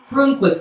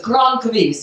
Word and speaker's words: Croonquist: Croonquist, Croonquist is the correct pronunciation if you know your Swedish, which I don't.